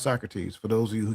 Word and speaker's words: Socrates: See Socrates and it is pronounced Socrates for those of you who get ready to say so.